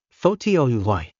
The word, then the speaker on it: photography: But in the word photography, the stress moves to the second syllable, photography.